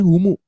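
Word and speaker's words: هُمُ: Jadi hum itu dibacanya humu gitu.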